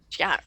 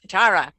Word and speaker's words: Chiara: Is that the right pronunciation, love? Chiara. Chiara.